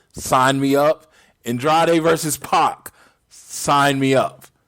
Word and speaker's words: PAC: me up andrade versus pock sign me up or pack is the pri correct pronunciation sign me up